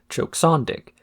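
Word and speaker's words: Choksondik: met the condition that her name be pronounced as choke sandic to make it sound like it was Eastern European or something after receiving this note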